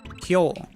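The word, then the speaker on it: 今日: But the word, but the word for today is actually pronounced kyo.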